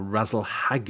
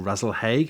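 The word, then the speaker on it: Rasalhague: Well, the head of Fucus is marked by the orange supergiant star Razel-Hague, or Razel-Hague, however you want to pronounce that, which is a magnitude +2 star, and sits on top of the constellation where the head would be.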